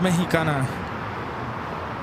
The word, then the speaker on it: Mexicana: See, it is pronounced Mexicana.